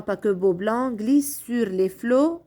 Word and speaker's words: flots: dans titanic mais les flots on ne prononce pas la lettre t comme sur du beau